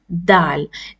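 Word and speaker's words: دال: of your tongue and you pronounce Dal it may look like English D but it's not spoken as d d it's not da it's da it's the light it's a light letter and let's see die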